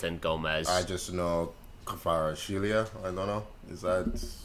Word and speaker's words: Kvaratskhelia: I'm not sure how to pronounce it. Yeah, Kvarats. Oh, you're talking about Kvaratskhelia.